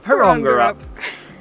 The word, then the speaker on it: Porongurup: This week we are at a tiny town in the southwest of Western Australia called Porongurup. Porongurup. It's so catchy. Porongurup. Porongurup. Porongurup. My apologies. We've been Googling how to pronounce town names now because we've been getting in trouble for pronouncing things wrong.